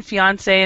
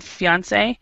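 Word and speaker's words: fiancée: There's really no difference in pronunciation, fiancé and fiancé. The difference is in the spelling. There's one more E for the bride, which is the woman.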